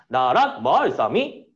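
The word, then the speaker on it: 나랏말ᄊᆞ미: 이건 낮은 소리고 이거 가로로 쓸걸. 낮은 소리고 높은 소리고 낮았다가 높아지는 소리고 다시 낮은 소리고 다시 높은 소리야. 그럼 발음해보면 나랏 말 싸미 됐지? 나랏 말 싸미 라고 발음하게 됐던 거야.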